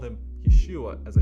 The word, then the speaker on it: Yeshua: thought Jesus was the Messiah actually called him Yeshua hamashia what does Yeshua mean Yeshua is Hebrew for Jesus well let